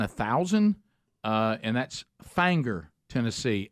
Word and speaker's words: Finger: Uh and that's Fanger, Tennessee. F I N G- E R and that you don't say Finger, Tennessee. It's Fanger, Tennessee, even though it's spelled that way.